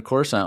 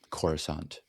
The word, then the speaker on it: Coruscant: under Coruscant.